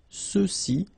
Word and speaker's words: ceux-ci: masculine plural, ceux-ci, okay, remember final X is not pronounced, so you get the sound ce, ceux-ci, and then ceux-là.